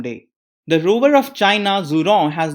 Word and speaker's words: Zhurong: The rover is called as Zhurong. The Chinese pronounce it like Zhurong.